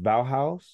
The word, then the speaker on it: Bauhaus: lyrics now you just said it is it pronounced Bauhaus yes you know I've always seen I don't